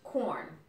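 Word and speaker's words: Quorn: Corn. It's a meat supplement. It's no meat though. But it's spelled with a Q. Q-U-O-R-N, yeah.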